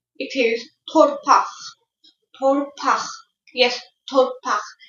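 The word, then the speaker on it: torpaq: Torpass. It's pronounced like this. Torpass.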